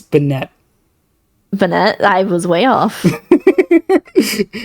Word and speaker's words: Banette: See, I was going to say uh it's it's banette.